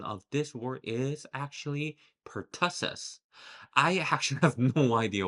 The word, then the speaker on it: pertussis: I used to say pertussis, which I believe some of you probably also said, but the correct pronunciation of this word is actually pertussis.